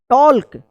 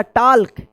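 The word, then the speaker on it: talk: टॉल्क या टाक।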